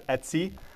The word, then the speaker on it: etc: can in UNIX speak we pronounce that as Etsy just like that with that website maybe that's where they